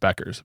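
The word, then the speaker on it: Bueckers: So, people are actually watching, uh, Paige uh, Beckers apparently, or Bukers. Somebody told me it's pronounced Beckers.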